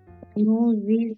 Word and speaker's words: nous y: Oui, nous y sommes allés. Oui, exactement. Oui, nous y sommes allés. Nous y sommes allés. Très bien, exactement. Et n'oubliez pas ici faire la liaison. Nous y, d'accord?